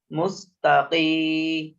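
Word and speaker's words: مستقيم: না হয় কফের উচ্চারণে কফ একটু জোরের সাথে উচ্চারণ করতে হয় মুস্তাকিম কফি মুস্তাকিম মিম জবর মা মুস্তাকিম মুস্তাকিম মুস্তা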